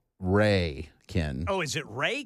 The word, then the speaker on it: Rhea: Why did I say Rhea? Rhea. Why do I do that? I mean, it's spelled R-H-E-A. I should have known that's Ray County.